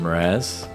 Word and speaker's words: Mraz: we thought it's Jason Mraz so just a very soft M and you can also